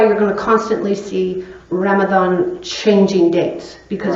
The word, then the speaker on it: Ramadan: So it's Ramadan, it's pronounced with a TH, though it's not spelled that way.